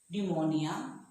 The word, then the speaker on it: pneumonia: P is also silent when the word begins with PN or PT. For example, pneumonia, pterodactyl.